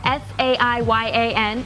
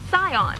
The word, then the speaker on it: Saiyan: Now, as to the Sion matter, when you romanize Japanese, something spelled S A I Y A N is pronounced Sion.